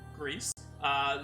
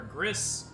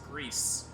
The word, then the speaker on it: Gris: wrong game so again this is Greece pronounced Greece developers his new Auto Studios published by devolver digital numata is a Spanish development studio so Greece is pronounced like you would in Spain in Spanish as opposed to agree or Gris it is Greece yeah so definitely the